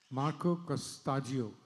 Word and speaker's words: Marco Costaggiu: Marco costio is that right pronunciation?